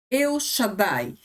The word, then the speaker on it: El Shaddai: El Shaddai, assim o pronunciamos, certo?